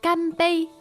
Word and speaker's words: 干杯: Ganbei, Ganbei. Ganbei. First tone, is that right? That's right. Ganbei.